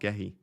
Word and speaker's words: Gehi: So, Gehi is pronounced Gooey. Gooey. I don't think it is pronounced Gooey. I watched an interview with him and he said Mark Gehi.